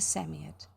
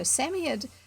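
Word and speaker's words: Psammead: said the knight okay so samia that robert is saying is spelt p-s-a-m-m-e-a-d and the way the knight is saying it it's written s-a-m-m-y-a-d-d yes a sort of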